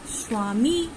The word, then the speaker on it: স্বামী: আমি কিন্তু বলছি প্রশ্বাস স্বামী। তাহলে দেখো এখানে কিন্তু আমি বয়ের উচ্চারণটি উজ্জ থেকে যাচ্ছে, মানে বয়ের উচ্চারণ কিন্তু আমি বলছি না।